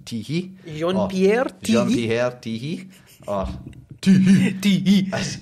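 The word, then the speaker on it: Tiéhi: I'm like, right, okay, but I've obviously since I've been told it's pronounced Teehee.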